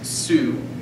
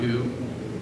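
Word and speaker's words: σύ: It's su, not u. U is your negative. Su is your nominative, singular.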